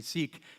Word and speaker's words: Sikh: Then there's the mother of the founder of the Sikh religion. Some people say Sikh. It's actually pronounced Sikh. It's a Sikh religion.